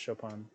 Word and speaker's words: Chopin: See, it's pronounced Chopin.